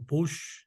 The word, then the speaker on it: Puig: Me llamo Puig, pronunciado Puig en catalán, y soy actualmente investigador de tiempo completo en el Ciesas de Occidente.